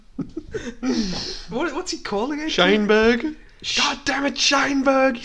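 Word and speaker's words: Sheinberg: Your pronunciation of the words are Meckies. And also the man called Scheidberg. What's he calling it? Scheinberg.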